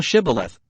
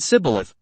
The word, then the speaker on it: Shibboleth: Then said they unto him, Say now Shibboleth. And he said Sibboleth, for he could not frame to pronounce it right.